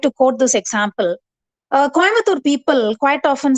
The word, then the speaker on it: Coimbatore: Speak Coimbatore as Coimbatore. Why do you say Coimbatore?